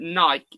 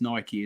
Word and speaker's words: Nike: you ask anyone in America they'll say it's Nike as well so it is Nike but us people in the UK do not say Nike we say Nike so alarm off NC